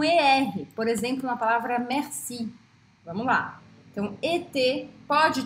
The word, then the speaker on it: merci: E aí, quando uma palavra tem ER no meio da palavra, não no final, mas no meio da palavra, eu abro o som desse E e eu pronuncio o R. Então fica R, merci, merci, mercredi, tá?